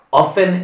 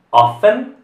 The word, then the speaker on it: often: Often è una delle poche parole che sta cambiando la pronuncia. Quindi si può pronunciare la T oppure no. Quindi often senza la T oppure often.